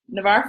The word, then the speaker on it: Navarre: how do you say that Navarre you say Navarre Florida and you can see who is in